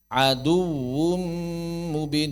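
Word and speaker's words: عدو مبين: Aduun aduun mestinya aduum mubin tidak berlebihan. Aduwum mubin. Jangan adu membacanya dengan ghunah saat bukan idgham bighunah.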